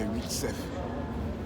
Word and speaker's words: Willstephe: nom sort de votre sujet, avant de te prononcer dessus, remue 7 fois la langue. Parce que c'est Will Sef.